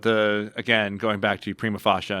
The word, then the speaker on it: prima facie: again going back to Prima fasha and how that's the only way to pronounce it the that's the only